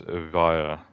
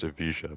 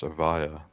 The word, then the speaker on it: Evija: One car, the Lotus Evija Pure Edition. Yeah, I used to think this car was pronounced Evija, but apparently it's pronounced Evija. Apparently now the British are, you know, doing the silent J.